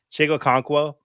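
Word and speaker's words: Chig Okonkwo: notably fyf Champion streaming option of the week chigo conquo I said it right because I looked it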